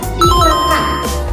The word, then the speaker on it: silakan: Contohnya pada kata silahkan dengan menggunakan huruf H di tengahnya. Padahal kata dasarnya yaitu sila tanpa menggunakan huruf H. Jadi pelafalannya benar adalah silakan.